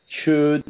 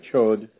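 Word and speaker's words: Chöd: That's spelled C-H-O with an umlaut and D. So the chud or chod.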